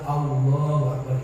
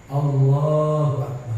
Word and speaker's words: Allahu Akbar: kalimat Allah itu, bahwa kalimatnya adalah hurufnya alif, lam, ha, tapi dia membacanya adalah Allahu Akbar. Ini perlu diluruskan, dibetulkan. Jadi kita ketika menyebut nama Tuhan kita kudu benar dan baik. Allahu Akbar, seperti itu.